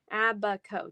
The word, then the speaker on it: Abaco: 10 miles of beach abaco abaco so no s sound abba ko did i say it